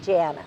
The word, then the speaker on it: Janna: When you're in Europe, I guess it's Janna. Janna. When I was in Moldova, it was Janna. Janna. So okay. Yes. And how do you pronounce it? Janna.